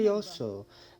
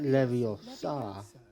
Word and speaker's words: Levioso: Levioso, not Leviosa.